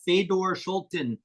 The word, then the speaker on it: Fedor Schulten: I am here with Fedor Schulten. Did I say it right? Yeah, perfect.